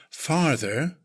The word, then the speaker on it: farther: Farther, again, first syllable is emphasized, the sound. Slightly elongate the sound, farther. Further and farther as adjectives.